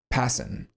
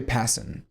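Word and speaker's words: Pasin: Um, pronuniation, Passen. R.J. Passen.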